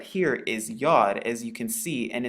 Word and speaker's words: Yod: And it is commonly known as the Yod, so it makes the Y sound. It's pronounced just like the letter Y.